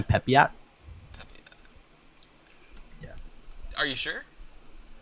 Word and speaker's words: Pepiot: Ryan, Ryan Pipette versus Framber Valdez. It's actually Ryan Pepiot. Pepe- Yeah, Are you sure? yeah, Pepiot.